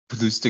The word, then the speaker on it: plus de: Plus de gâteau. More than 2 cakes. Plus de deux gâteaux. When it comes to a number, the pronunciation switches to plus de.